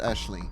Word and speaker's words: Aisling: Aisling is pronounced Aisling. It is an Irish name. I have a friend whose name is Aisling, and she would beat you over the head with a lavender.